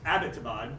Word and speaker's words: Abbottabad: Pakistan uh located in aptabad it's been mispronounced a lot in the media by the way it's not about it's abbottabad named for General Abbott of the British colonial Empire um that's Pakistan's largest